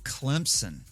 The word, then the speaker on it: Clemson: There is no Z in Clemson. It's someone's name. And they did not pronounce it Clemson.